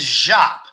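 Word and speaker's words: Giap: what was his name the general's name is zhap and it's spelled g i a p and you will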